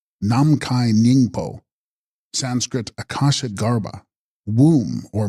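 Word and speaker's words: Nam-mkhahi-snying-po: rainbow Halo of light text Nam Mikan sing poo pronounced namai ningo Sanskrit Akasha Garba womb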